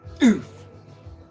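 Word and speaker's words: œuf: It's pronounced oof.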